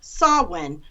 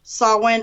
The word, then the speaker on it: Samhain: it's a Gaelic okay okay and it is pronounced it spre nounce saw when spelled either s o w I in you know with the difference with the difference between the two or s.a.w i n saw wind or saw one so there's just a slight